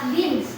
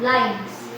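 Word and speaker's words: limbs: you and livs uh this word is uh pronounced as lims not lines okay plus birds are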